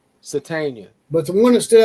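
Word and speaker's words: Sategna: Satania.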